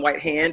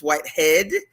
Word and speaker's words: Whitehead: I think I've said his name wrong a few times. So let me retroactively correct. I think I called him Whitehand. It's Whitehead. Adrian Whitehead is the general